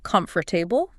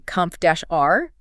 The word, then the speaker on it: comfortable: If I read the word comfortable, my brain wants to pronounce every syllable, comfortable. But when I shadow the native speaker while reading it, I realize they actually say comf-r.